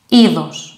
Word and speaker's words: είδος: This one is pronounced like e. For example, the Greek word είδος.